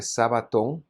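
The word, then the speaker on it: σάββατον: En griego de hecho dice Sabatón, porque el griego no puede pronunciar la SH, pero que más que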